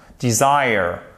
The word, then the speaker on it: design: et pas désire erreur non pas déjà non design vous voyez ce qui se passe ici vous avez votre accent tonique qui est là et le e il